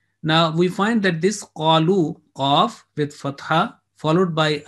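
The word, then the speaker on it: قالوا: And you will see that there is no role at all of this alif in the pronunciation. Because if you remove that in the appearance, it will be qalu.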